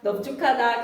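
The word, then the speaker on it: 넓죽하다: 넙둥글다, 넙죽하다. 그 다음에 3번 옆에 무슨 공간 있지? 거기에다 적고 가자. 이거 어떻게 발음해야 될까? 둥글다, 죽하다, 적하다처럼 다른 어근이 붙으면 항상 여러분 어떻게 발음이 된다고요? 비읍으로 발음하셔야 됩니다.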